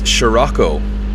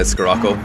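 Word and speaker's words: Scirocco: I think it's Shurocco. Thanks, Meritz. I always say Skaco. Shurocco. Maybe I'm saying it wrong. I will listen to the the Germans who tell me how to pronounce it.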